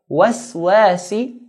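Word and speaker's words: الْوَسْوَاسِ: Waswasi. The wa we pronounce it in a light manner. Wa. Waswasi. And sin sharp.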